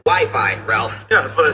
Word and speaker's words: Wi-Fi: Wiffy. Wifey? Well, it's either wiffle ball or an arranged marriage game. It's actually pronounced Wi-Fi, Ralph.